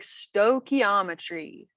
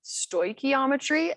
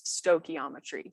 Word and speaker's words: stoichiometry: little pronunciation guide so we say it like Stoichiometry some people pronounce it Stoichiometry and we still accept those people as okay but I prefer to pronounce it as Stoichiometry so Stoichiometry that's what we're covering that is the new